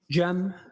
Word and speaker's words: Cem: It's officially spelled CM. Uh, last name. I also spell it with a G. And can you state your name for us, sir? Jeem.